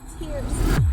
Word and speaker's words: Ti3rc3c: Listen, if this is your first time meeting my acquaintance, it is pronounced tears. No E's, only threes for alignment.